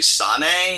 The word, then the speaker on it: Sane: Now, Kairi, I want to say Sane is how you pronounce it?